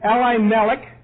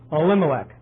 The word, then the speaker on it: Elimelech: And the name of the man was, now here's the kicker, you could pronounce this 2 ways. It could be Elimelech, or what I prefer, Elimelech, because that's exactly what it sounds like.